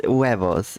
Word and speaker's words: huevos: Yeah, it's huevos. So it would be u-e-vo.